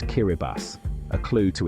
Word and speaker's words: Kiribati: Kiribati is pronounced Kiraibbas, a clue to its unique language and history. The TI is pronounced as S in the I Kiraabati language, a legacy of early European missionaries adapting the Roman alphabet.